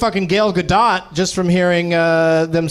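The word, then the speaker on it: Gal Gadot: matter no I finally learned Gale gadot just from hearing them say it on SNL the other night I always thought it was Godot right she's Israeli it's good not yeah don't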